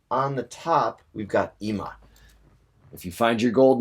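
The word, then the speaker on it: 今: that the kanji for ima, that's what this is right here up top, this is the kanji for ima, which means now. Another way of pronouncing that is kon or kin.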